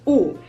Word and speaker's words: ó: It's pronounced exactly the same as the Polish letter U, which is U.